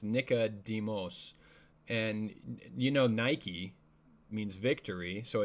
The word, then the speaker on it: Nicodemus: I think you'd pronounce it differently because it's Nicodemos, and Nike means victory, so it's the word Nike with demos, or the people.